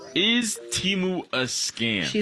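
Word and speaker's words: Temu: The name of the company is Teimu, not Teu.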